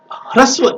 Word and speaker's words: ह्रस्व: देखिए यहाँ पे हम लोग उच्चारण जो करते हैं वो हर्षई करते हैं। हर्षई नहीं करना है हमें ह्रस्व ई, दीर्घ ई, ह्रस्व उ, दीर्घ उ, री, री, ए, ओ, औ करना है।